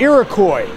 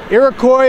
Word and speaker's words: Iroquois: It has three syllables, a Q, a U, a silent S. There's no way Army guys was gonna say Iroquois.